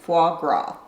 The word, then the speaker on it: foie gras: If you're a foodie, then you'll love all of the local markets that are filled with fresh produce, truffles, and foie gras.